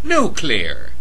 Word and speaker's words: nuclear: nuclear weaponry of course of course pronounced no clear unless you have an inferior IQ nuclear weapons here are